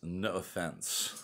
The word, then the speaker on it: N'offense: So this week, the episode's title is No Offense. I think that's the best way to pronounce it. No Offense.